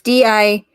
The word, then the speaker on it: Dietz: Anyways, it's Dietz.